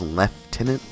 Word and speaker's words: lieutenant: through this game that the British pronounce lieutenant as lieutenant, which threw me off really hard.